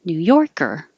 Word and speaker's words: New Yorker: And same for the person. New Yorker.